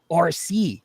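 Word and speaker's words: Arcee: And then my daughter's name is RC. I named her RC. It's spelled A RC E.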